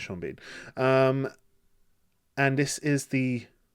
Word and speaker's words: Sean Bean: Lewis, Sha Bean, or Sheen Bourne. I don't know how you pronounce that. I'm joking. It's Sha Bean.